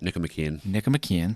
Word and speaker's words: Nicomachean: According to Aristotle's Nicomachean Ethics, if I pronounce that right. Nicomachean, thank you.